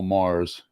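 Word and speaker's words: Magrs: guy's name is Paul Mars and as he tells you the G is silent see so m-a-g-r-s how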